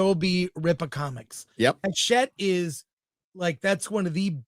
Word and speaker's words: Hachette: They partnered with Hatchet, global distribution. It's Hachette. It's pronounced.